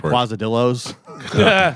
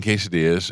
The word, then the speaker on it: quesadillas: I'll say quazadillos. They hate that.